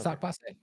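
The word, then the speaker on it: sak pase: Sock passe? How do you say it in Haitian, man? You said it right. You said it. Okay. Sock passe.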